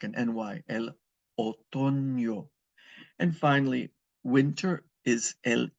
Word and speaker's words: otoño: El otoño, and that N with the tilde over it is pronounced like a ña. El otoño, like an NY. El otoño.